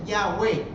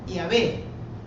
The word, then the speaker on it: Yahweh: Estas 4 letras, la Yud suena I, la interpretan también como I griega, como I latina. Bueno, pero en todo caso no es J, así que no es Jehová. Podría ser, todos pronuncian lo más aproximado, lo que más se conoce, Yahweh. La Iglesia Católica en las primeras versiones tenían Yahvé, porque es realmente más o menos como suena.